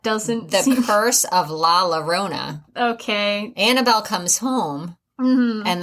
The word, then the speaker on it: La Llorona: I've heard of The Curse of La Llorona, and it's not pronounced that. It's Spanish, and it's a double L, so it would be Llorona.